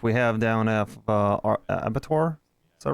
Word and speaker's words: Abattoir: TRT warehouse, which we have down at our Abattoir. Is that right? Did I pronounce that correctly, Ruby?